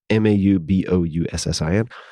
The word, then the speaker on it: Mauboussin: I believe that is how you pronounce his name. Maubouussin.